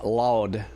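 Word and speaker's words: Laude: And then the song is loud.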